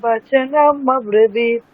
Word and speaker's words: वचनमब्रवीत्: राजा वचनमब्रवीत्।